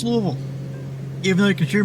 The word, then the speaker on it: Louisville: Dude probably pronounces it Lewisville. Louisville. There we go.